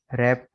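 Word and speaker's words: wrap: तो डब्ल्यू के साथ आर मिले आपको, तो डब्ल्यू आमतौर पर साइलेंट होगा। ठीक है, right, road, written, writing, wrist, रैप, wrong.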